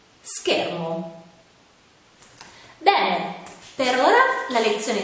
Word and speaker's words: schermo: sciatore scena e fish quando invece sono seguite da le altre vocali oppure dalla lettera h si pronunciano in modo più duro ad esempio scatola scoiattolo scuola schermo beh per ora la